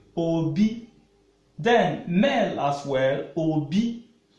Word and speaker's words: obi: Then male as well, Obi. But heart means, as in is being pronounced Obi with low tone.